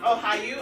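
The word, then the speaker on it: おはよう: It's oh how you I thought you was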